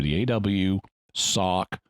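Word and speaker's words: Awsok: reveal spoiled so fine they call her asoc a-w-s-o-k in the in the credits perfectly straightforward easily pronounceable name aw for the aw sock for the sock the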